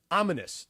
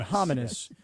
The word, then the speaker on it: ominous: There's no silent H in front of the O, is there? No, it's just O-M-I. Okay, I just wanted to make sure it's not hominous. Yes. And then all of a sudden, I'm saying hominous, but I'm really not supposed to pronounce the H.